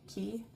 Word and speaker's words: Cay: And then we stopped at Castaway Cay, or Castaway Cay, like it's spelled C-A-Y, but I think they say it's Key, which is technically in the Bahamas, right?